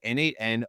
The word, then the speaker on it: n8n: eight it the pronun treats the numer numeral eight in the middle as a word for the number eight right second accepted pronunciation